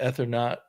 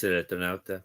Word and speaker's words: Eternauta: You've done a video on the Ethernaut, or I don't know how to pronounce it properly. Yes, And it's Spanish Eternauta, but the Phantom and Fantomas.